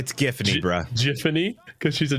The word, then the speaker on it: Giffany: Maybe it's pronounced Giffany? It's Giffany, bruh.